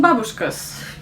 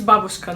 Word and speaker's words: babushka: maybe number four russian babushkas and the first thing to say to you world please remember it's babushka not babushka the stress goes on the first syllable okay it says here